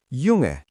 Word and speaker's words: Junge: In German, when a word begins with the letter J, it sounds like the English Y. This is different from English. In German, J is always pronounced like Y. For example, Junge, that means boy, and Ja, which means yes.